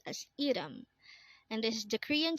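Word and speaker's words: 이름: Next word is Irum. Again, this is pronounced as Irum, and this is the Korean term for name. Again, Irum is name.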